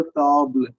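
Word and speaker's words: tables: அடுத்தது அடுத்த பாக்ஸ்ல பாத்தீங்கன்னா, வாசி யூன் தாபிள், ஹியர் இஸ் அ டேபிள், வாசி த தாபிள். இந்த நல்லா கவனிங்க, வாசி த தாபிள் இருக்கிற எஸ் வந்து எப்பவுமே பிரெஞ்சுல உச்சரிக்க மாட்டாங்க.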